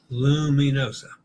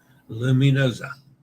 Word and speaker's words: Luminosa: not bad Athol so luminosa luminosa remember that the S between vowels is pronounced Z as in pizza or lasagna luminosa okay I'll put too